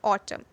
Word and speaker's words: autumn: The letter N is actually silent in the word autumn. Therefore, the right pronunciation of the word autumn will be without the N.